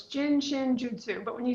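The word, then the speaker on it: Jin Shin Jyutsu: It's pronounced like joot, like rope, and sue, like the woman's name. So, it's jin chin jutsu, but when you say it fast, it sounds like jin jutsu because it you just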